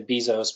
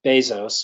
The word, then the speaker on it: Bezos: ones are Jeff Jeff Bezos is how he pronounces his name some people say Bezos but it's Bezos according to him and it's Steve Jobs